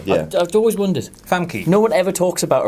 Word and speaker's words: Famke: Is that how that's pronounced? Famke, yeah. I've always wondered. Famke.